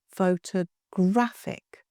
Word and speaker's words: photographic: Photographic, 4 syllables. Photographic.